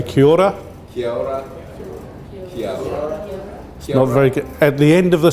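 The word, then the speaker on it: Kia ora: one thing that they've learned and this is kiora which means hello in maori so say kyora at the end of the session i'm going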